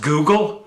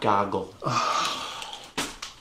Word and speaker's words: Google: like yahoo bing and google it's pronounced google not goggle it's a good look